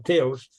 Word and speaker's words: Theos: Lo pronuncian de otra manera un poco más bien pronunciada, pero Theos es Dios en griego.